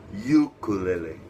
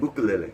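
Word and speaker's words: ʻukulele: Ukulele. Yeah. Because in Hawaiian, the letter U is with pronounced u. Well, it has the okina in front of it.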